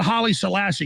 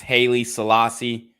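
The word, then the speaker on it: Haile Selassie: people should read that for themselves what about Holly Selassie because this is what happened to Kyrie Irving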